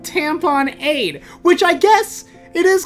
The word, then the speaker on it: tamponade: is the rapid emergency tamponade right well that is spelled tampon aid like gatorade tampon aid which i guess it